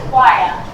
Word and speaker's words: choir: The H is silent. So it's choir. Choir.